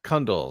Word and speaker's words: Cundill: Follow me on Twitter at Kundle, Cundill. Kundle rhymes with bundle.